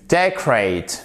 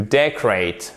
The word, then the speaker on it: decorate: to decorate, decoration, decoration, to decorate. Faites attention là, vous avez votre accent tonique sur la première syllabe.